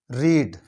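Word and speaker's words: read: अब verb रीड, पढ़ना, रीड, और चूंकि इसके स्पेलिंग चेंज नहीं होते हैं तो सेकंड फॉर्म भी इसकी उसे पढ़ेंगे रेड, लेकिन स्पेलिंग चेंज नहीं होंगे।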